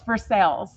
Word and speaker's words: Versailles: Oh, it's Versailles. We pronounced it, it's because we spent last summer in Paris. Yeah, We pronounced it Versailles.